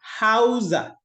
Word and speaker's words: Hauser: I said Hauser. Is letter S Z?